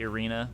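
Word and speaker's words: Irina: actually hear it and he did say arena which is how i've been pronouncing it the whole time so i didn't mess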